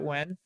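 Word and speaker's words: Nguyen: uh corey jackson says any of the recent one-piece movies are great uh trung when says i'm saying it when n-g-u-y-e-n my friend chris pronounces that when so i'm assuming they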